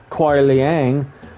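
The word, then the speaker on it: Kuai Liang: it shows him and Cole Leang, which is how you say his name properly, just so you guys know.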